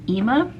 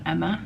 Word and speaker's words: Ema: front desk here that the restaurant is called ema not emma it's a long e so it's basically a